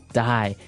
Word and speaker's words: dye: you're dying it okay dye so it's pronounced exactly the same way as you know to die to not live anymore die but it's spelled